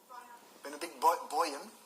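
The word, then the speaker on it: Benediktbeuern: Blow Christian living in, how do you pronounce it, Benedictbeuren? Benedict Boyen. Benedict Boyen.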